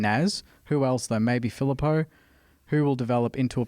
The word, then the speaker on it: Filippo: Someone was saying, how do we It's pronounce Filippo. it? Filippo.